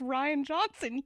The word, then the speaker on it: Rian Johnson: Until today, I pronounced his name Rian Johnson. Is it not just Ryan Johnson? It is absolutely just Ryan Johnson.